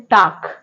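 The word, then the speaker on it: talk: हैं आंसर ऐसे टाक टाक में साइलेंट लेटर एल है ल्क तो पढ़ते नहीं हम लोग क्या पढ़ते हैं टाक तो यहां पर एल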